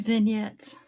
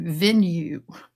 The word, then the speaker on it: vignette: I used to say venue. It's like yeah, my daughter, and she's like, Mom, it's not a venue, it's a vignette.